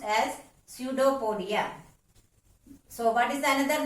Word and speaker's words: pseudopodia: Children, while pronouncing the word pseudopodia, you have to remember that P is silent here. Therefore, the word to be pronounced as pseudopodia.